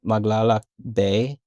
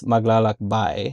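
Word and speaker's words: maglakbay: So I was saying maglaak bay but it's maglak bai and he's like no it's magal no like it's maglak by this is exactly how you Yeah.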